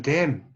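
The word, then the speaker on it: damn: 그 다음에 댐, 저주하다, 저주하다. 자, 여기서도 N이 발음이 안 되죠.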